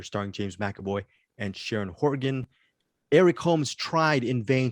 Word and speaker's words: Horgan: gotta look at that sharon horvin or something like that she's very good i i'm mispronouncing her name as we speak sharon horgan sharon horgan she is